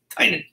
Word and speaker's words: Tynion: Tynion.